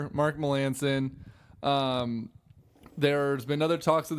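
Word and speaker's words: Melancon: which would be great it's pronounced Melanson as you say or is it Melanson or is it you say Milland King everything I've seen it's Melanson it's Melanson who's asking that really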